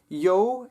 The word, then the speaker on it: jou: Yo and your are probably the most different, but only because there's a J in the Afrikaans word, even though that J is being pronounced like a Y, an English Y sound.